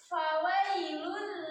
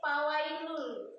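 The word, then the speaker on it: فويل: Fa, fa, fa, fi, fu, ba, fawailul lil musallin. Nggak boleh pawailul. Kan ada tuh yang bacanya pakai pa tuh, pawailul. Karena pakainya dua bibir menempel, harusnya pakainya bibir bawah dengan gigi seri atas.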